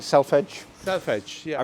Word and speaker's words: selvedge: correctly I hope yeah lots of people call Salvage some people call itelf Edge but we are so used to hearing it all sorts of ways you're telling me I